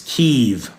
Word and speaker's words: Kyiv: It's Keev. It's actually not even Keev. I don't actually pronounce it properly, but that's as close as I can get as an American right now.